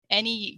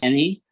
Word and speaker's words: any: any yeah any any the others they was pronounced at any right anywhere in europe because i've been here like um a non-national native american they would say anything anything but it's any any so there's no um the mouth is barely open any any how about the